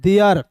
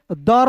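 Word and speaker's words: there: डब्ल्यू एस वाज टी एच ई आर ई तो टी एच का उच्चारण द के रूप में ई आर ई है तो इसका उच्चारण एयर के रूप में करते हैं। तो हो जाएगा दोस्तों देयर। इसे दर नहीं पढ़ते हैं या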